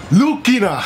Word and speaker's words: Lucina: in alpha 1 because in Japan Lucina lucina's name for some reason is pronounced lukina and i've made references